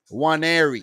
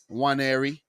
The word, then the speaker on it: Nwaneri: Ethan Nwaneri. I think the N is actually silent. Ketia Nwaneri. The N is silent.